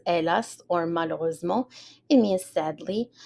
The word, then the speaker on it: hélas: matin-là, on that morning, hélas. So the H is silent, hélas, or malheureusement.